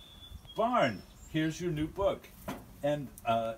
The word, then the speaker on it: Spon: So, for me, this is how this is actually pronounced is Spon. This line means that's a long O, Spon, or rhymes with bone.